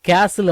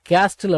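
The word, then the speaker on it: castle: எ பிக் சன் கேசில். ஒரு பெரிய மணல் கோட்டையைசி எஸ்டி எல் இது வந்து கேசில் அப்படின்னுதான் உச்சரிக்கணும். கேஸ்டில் அப்படின்னு உச்சரிக்காதீங்க சரிங்களாவி பிilட் பிக் சன் கேசில் அப்படின்னா நாங்கள் ஒரு பெரிய மணல் கோட்டையை கட்டினோம்.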